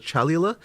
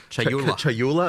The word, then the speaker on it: Chayula: So the Acolyte of, and I always get this name wrong, the Acolyte of, is it Chalula? Chayula, I always say this wrong.